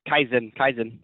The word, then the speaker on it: Kaizen: Is it live by Kaizen? Is that how you pronounce it? Yeah, Kaizen.